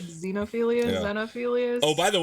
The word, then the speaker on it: Xenophilius: Then she just gets up and she's like, we're seeing Xenophilius Lovegood.